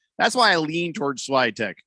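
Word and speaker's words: Świątek: uh fat fan also wants to know that swagtech won the french open two years ago and if goff makes the finals uh she may be really nervous that's why i leaned towards slidetech pronounced schweitek i was saying it right i mean i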